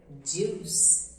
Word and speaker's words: juice: exemplo, o correto é juice. Observe bastante quando você for pronunciar alguma palavra que começa com a letra J, que tem esse som de juice.